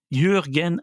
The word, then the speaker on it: Jürgen: philosophique d'un grand penseur, Jürgen Habermas, je le prononce comme il faut, il y a un trémor sur le U.